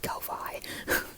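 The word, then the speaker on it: Ko-fi: I'll say it again I pronounce it Kofi because I I've always seen it as a play on Loi and I make Loi videos so I'm gonna say Kofi um if you don't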